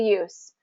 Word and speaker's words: use: he previously did okay but if it's a verb form use use the back door to get in we got to get that z sound use use the back